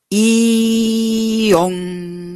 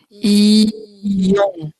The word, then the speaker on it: Ion: Cada vez que pronunciamos Ion fuerte, la última sílaba, chaque fois que nous prononçons Ion, en mettant l'accent sur la dernière syllabe, esa vibración va viajando por todo el planeta.